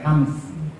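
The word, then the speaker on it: همس: lillahium ya nasi Hames itu Hames sebetulnya bukan Hames ya hams cuman saya sering ngebutnya Hames ya alah santri alasannya tulisannya hamsun ya dibacanya hams Jadi bukan Hames bukan pakai e bukan Hames itu adalah suara desis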